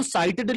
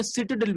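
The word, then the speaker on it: citadel: और इसको साइटेडल भी बोल सकते हैं आप, या सिटाडेल भी बोल सकते हैं, आपके अपने प्रोनाउंसिएशन के ऊपर है कि आप इसको क्या बोलना चाहते हैं, साइटेडल या सिटाडेल।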